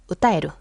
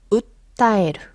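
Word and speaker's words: 訴える: 호소하는 거 또 가능하고 근데 여기 작은 쯔가 있기 때문에 우타에루 이러시면 안 되고 웃다에르 쉬셔야 돼요 작은 쯔 발음 가능할까요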